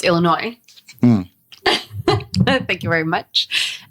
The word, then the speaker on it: Illinois: First, it's Illinois.